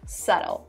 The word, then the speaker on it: subtle: the next word subtle it is written with a b so make sure that when you're writing you actually spell it in the right way but the way you pronounce it is subtle subtle means not loud not